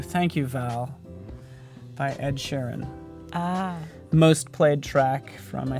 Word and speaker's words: Sheeran: Is it pronounced Shireen? Sharon? Sheeran. Oh, Sheeran. I'm gonna start saying Shireen though. Shireen, it's Sheeran.